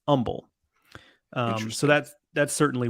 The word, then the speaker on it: Humble: is that people who don't know would say humble but it's pronounced humble um so that's that's certainly one uh there's